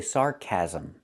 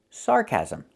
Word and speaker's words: sarcasm: Okay, we don't say it like that. We say sarcasm. Sarcasm. 3 syllables. Not 2, but 3 syllables.